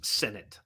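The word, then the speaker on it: Sinnott: combined trash got it sonat is pronounced Senate all right I will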